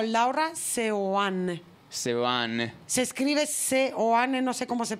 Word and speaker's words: Seoane: sean sean se escribe se oane no sé cómo se pronuncia s de Sevilla se s de Sevilla seane seane se escribe seane sí se pronuncia Seoane es que leí el